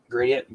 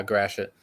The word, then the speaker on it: Gratiot: in what county is this is this uh gradient gradient how do you pronounce it uh Gratiot gratient so if you're in Gratiot County that's